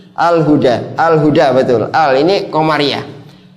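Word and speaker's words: الهدى: Alhuda panjang nanti bacanya karena ada alif bengkong ya. Ada alif bengkok di sini. Alhuda.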